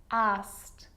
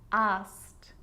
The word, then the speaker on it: asked: it's its own syllable but a lot of the time that e isn't pronounced looked asked played baked wrapped now they could be a little bit tricky so let's do it again looked asked played baked wrapped okay